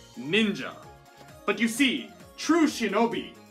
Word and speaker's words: ninja: as a rare case it is pronounced as ja and thus this shinobi no mono could indeed be shortened and read as ninja but you see true